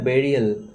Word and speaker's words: burial: দ্য বেরিয়াল ground, এই যে BURIAL প্রনাউন্সিয়েশনটা হবে বেরিয়াল, দ্য বেরিয়াল ground of দ্য ফ্যারাওস, তাহলে ফ্যারাওদের সমাধি ক্ষেত্র বা সমাধি স্থান, এখানে ফ্যারাওদেরকে সমাধি দেওয়া হয়, ঠিক আছে।